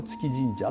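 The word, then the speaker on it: 調神社: ますが、これを月神社って読むんですよ、ね。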